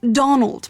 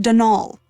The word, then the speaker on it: Donal: caretaker denial delaney not donald mind you there's no d at the end so it's pronounced denal that's the way you're